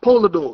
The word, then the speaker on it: Polidore: Yeah, SHOUTOUTS the Griot Polador. Okay. SHOUTOUTS the Griot Polador.